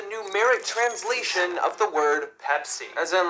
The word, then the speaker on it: Pepsi: did in argentina they changed their name to pessi see 25 of the population there was mispronouncing their name that way and apparently it is easier phonetically for spanish speakers to say pessy rather than pepsi but still 75 of argentinians were saying it